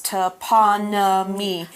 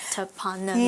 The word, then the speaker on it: toponymy: Now you might want to separate that word here a little bit into the different syllables. Toponymy. Toponymy.